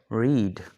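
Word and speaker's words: read: अच्छा, इसके स्पेलिंग जो है वो सेम एज इट इज जैसे कि फर्स्ट फॉर्म के हैं वैसे ही हैं, लेकिन यहाँ पर इसकी जो प्रोनाउंसिएशन है या जो इसका तलफ़ुज़ है वो चेंज हो रहा है।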